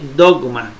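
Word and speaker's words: δόγμα: aprender es esta bueno la delta como d la omicron como la gama como g de gato lamy como m y la alfa como dice dogma aquí dice dogma y dogma se traduce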